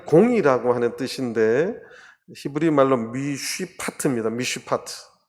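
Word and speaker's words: מִשְׁפָּט: 그게 무슨 말이냐면 그들에게 공평을 바라셨더니가 이 공이라고 하는 뜻인데 히브리 말로 미쉬파트입니다. 미쉬파트인데 뒤에 포악이다. 포악은 히브리 말로 미스파흐예요. 미쉬파트. 비슷한 발음인데 그것을 단어로서 배열해서 하나님이 바란 좋은 열매가 안 맺히고 나쁜 열매가 맺혔다.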